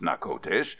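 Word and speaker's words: Natchitoches: Spanish French border near old Anna kodesh pronounced knuckle dish on the lower red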